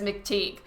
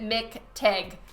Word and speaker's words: McTeague: your last name and everyone says McTeague I personally and our family pronounce it Mik TIG Thank You mr.